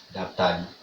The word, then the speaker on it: hôpital: Alors le mot suivant, c'est le mot hôpital. Hôpital. Ici au Comores, ils ont décidé de prononcer ça comme ça. L'Aptali. Ici on dit l'Aptali. Hopital Laptali.